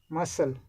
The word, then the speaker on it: muscle: Muscle, we don't pronounce C.